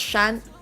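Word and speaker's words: 山: Japanese is Yama in uh Chinese Mandarin it's pronounced Shan this word is called Tien um and I'm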